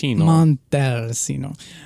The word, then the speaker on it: Montalcino: Casalino Brunello di Montalcino. Montalcino. Chino. Yes. There's no H. There is no H, but the C's in Italian are pronounced like a CH when it's just a singular C.